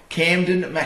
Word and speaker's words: Kamdyn McIntosh: And I always say his name wrong. KAMDYN McIntosh.